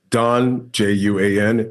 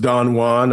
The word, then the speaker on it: Don Juan: Doesn't everyone know that Don, Juan, is pronounced Don Juan? I'm like, yes, but we're referencing Byron's poem in which he actually wanted it pronounced Don Juan for a reason.